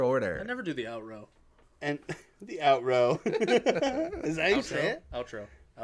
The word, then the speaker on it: outro: I'm still on the out row. How do you say that? OUTRO. Outro. Have you always said out row?